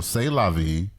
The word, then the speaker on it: C'est la vie: for him okay so C'est La Vie is the way it's pronounced in French so shout out but